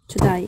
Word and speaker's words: today: You heard the word to die, To die, yeah. which is today. A, they pronounce it like I, so they say to die, which means today.